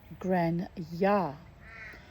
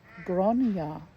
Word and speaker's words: Grania: Grain or grainy, I've been saying, is pronounced Gran-ya. The first A is pronounced like the O in bonfire. Well, then it should be Gronya.